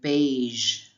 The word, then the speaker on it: beige: Be careful. It's not beige or beige. It is beige. Just that soft sound again.